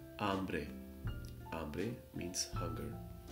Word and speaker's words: hambre: here H is silent hambre pobre means hugger H is silent again however in this case